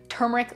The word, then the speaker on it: turmeric: do whatever you want both are equally correct so i'm just going with the way i've always said it which is with the r being pronounced the inspiration for this